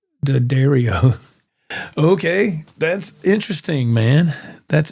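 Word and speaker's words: D'Addario: I got a hat from their site that says Dario. Okay, that's interesting, man. That's interesting. The Dario. There you go. So, that explains that's how it's pronounced.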